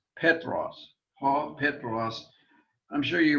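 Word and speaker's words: Πέτρος: how i picture this man petros notice the accent on the first syllable now one of the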